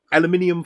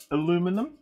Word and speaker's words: aluminium: first boiled again some aluminium foil for people who like to hear me chuck that extra syllable into uh aluminum some aluminium foil let's